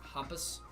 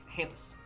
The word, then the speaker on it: Hampus: I think it would be Humpus. It's like his name is spelled like Krampus, but without the KR with an H. Hampus.